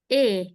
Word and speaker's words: et: Eh, i e directamente e no pronuncio la t. Bien, pronunciamos e.